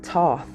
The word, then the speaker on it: Thoth: It says, Thoth, which is pronounced Thoth, okay, also known as Tehuti, is the ancient Egyptian ibis-headed god of writing, acknowledged as the sacred scribe who created writing.